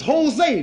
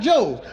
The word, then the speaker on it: Jose: I said, "Man," I said, "In California, all the names that start with a J, you pronounce them like they starting with an H." So, this is Jose, not Joe's.